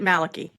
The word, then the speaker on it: Malachi: and the case is from a book by Malachi Martin Maliki or Maliki ma well uh he pronounced it Maliki Maliki okay yep father Maliki Martin so I